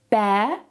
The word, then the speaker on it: bear: Notice as well that I don't pronounce the R at the end of these words.